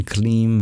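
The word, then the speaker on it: क्लीं: And the L is trilled in Kleem, and the R is trilled in Shrim and Hrim.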